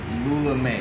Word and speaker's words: Lula Mae: Alright, so I gotta ask, who is Lula Mae?